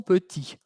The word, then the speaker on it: petits: La pronunciación, ahí teníamos una T, ¿okay?, que al final es muda. Cuando agrego una S, vimos que la TS, ES, todo eso es mudo también.